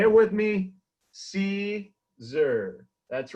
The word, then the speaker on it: Siser: Joe.......That Siser Guy....: And that is how to properly pronounce Caesar. So say it with me. See zur.